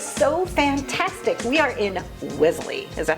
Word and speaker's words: Wellesley: We are in Wellesley.